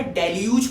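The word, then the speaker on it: deluge: इसकी प्रोनाउंसिएशन पे ध्यान देना, डेल्यूज पढ़ते हैं इसको, ठीक है ना, डेल्यूज।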